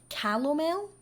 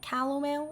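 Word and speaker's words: calomel: her with something called calamel I believe that's how you say it calamel it's not caramel but like caramel um and that was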